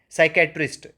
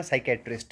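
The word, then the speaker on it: psychiatrist: आप बोलते हो ना, साइकेट्रिस्ट है। अब देखो, साइकी, ये ये एक तो पी साइलेंट रहता है, ये ध्यान में रखना।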